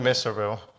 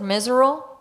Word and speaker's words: Miserville: Miserville by the Leonard School. Yeah. Say that again? Miserville Park. How do you pronounce it? Miserable? No, Miserville.